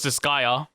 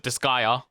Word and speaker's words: Disgaea: seth um so sir how did you pronounce it uh i pronounced it disgaea disgaea ah i think that's